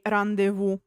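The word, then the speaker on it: rendezvous: I'm joking we say randevu it is not pronounced as in French and fun fact it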